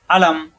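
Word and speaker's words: أَلَمْ: আলাম তারকাইফাফলা রব্বুকাবিহাবিলফ আলাম আলাম দ্রুত উচ্চারণ হবে আলাম অর্থ নাইকি নাইকি আপনি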